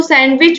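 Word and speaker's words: sandwich: beauty और है दोस्तों सैंडविच में धोइए साइलेंट होता आपको देखने में लगता नहीं लेकिन यहां पर डी ही साइलेंट होता है याद रखिएगा पुत्र मिट्ठू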